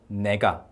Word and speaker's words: 네가: it should be this okay this and the pronunciation is supposed to be something like Nega Nega versus Nega I so you can see